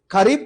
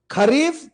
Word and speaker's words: खरीफ: ठीक है, इंपॉर्टेंट फसलें मैंने आपको याद करने का एक तरीका बताया कि खरीफ प्रोनाउंस होता गरीब से है, गरीब खाता चावल है,